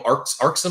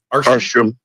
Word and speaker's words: Arsham: And we didn't even mention Daniel uh Daniel Arxam. I apologize if I'm mispronouncing Arsham.